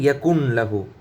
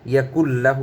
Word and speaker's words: يكن له: আমরা অনেক সময় বলে ফেলি ইয়াকুন লাহু, এটা আমাদের ভুল। ইয়াকুল লাহু হবে, ইয়াকুল লাহু।